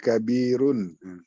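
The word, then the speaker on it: كبيرٌ: Baknya panjang Pak ya, kabirun. Iya, kabirun, iya. Itu aja gampang tuh.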